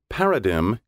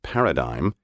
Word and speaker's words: paradigm: a model or pattern paradigm is the traditional american pronunciation the alternative pronunciation paradigm now preferred by many educated speakers is originally british both pronunciations are countenanced